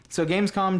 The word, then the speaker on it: Gamescom: So Gamescom just happened.